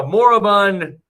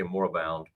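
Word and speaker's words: moribund: I like that word, Morabund. It's spelled like M O R I B U N D. Taking a Morabund or you say Morabound.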